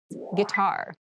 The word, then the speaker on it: guitar: casual clothing casual clothing guitar guitar gar this word has kind of an interesting spelling it starts with GUI but we pronounce this as G so a guitar is